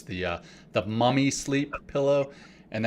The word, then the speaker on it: MVMI: It's the Mummy Sleep pillow, and it's spelled kind of differently than you may expect. It's spelled MVMI, so the V is pronounced like a U.